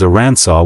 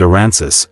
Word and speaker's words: Arkansas: The correct pronunciation is Aransaw with the final S silent. If you pronounce it aransis, you're technically violating state law.